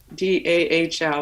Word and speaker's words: Dahl: Dahl, like a Barbie doll, but Connie.